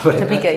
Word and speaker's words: Topeka: I think it was outside Topeka. Is that how you pronounce it? I don't know. Topeka, yeah.